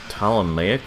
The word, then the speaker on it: Ptolemaic: Apparently these guys are part of the Ptolemaic army. If you look it up, you're gonna have to spell it with a P, because the P is silent because English.